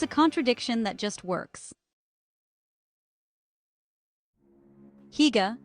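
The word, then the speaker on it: hygge: Higa, pronounced huga, is the Danish art of coziness.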